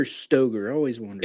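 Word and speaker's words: Stoeger: Is it Stagger or Stogger? I always wonder. It's It's Stagger. Stoer. Stagger. Stagger. It's pronounced stagger even though it looks like it should be Stoker, but it's pronounced.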